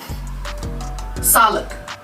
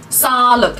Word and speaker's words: sağlık: Mesela Sağlık. ama güzel söyledim. Gerçekten mi? Evet. Sağlık. Sağlık. 2 tane A gibi. Sağlık. Sağlık.